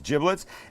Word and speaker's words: giblets: the bag of giblets and that's how it's pronounced not giblets it's giblets and in here would be liver would be